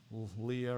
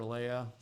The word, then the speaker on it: Leia: have a Star Wars name okay that's why Leah or Leia okay it's spelled i l e i a so got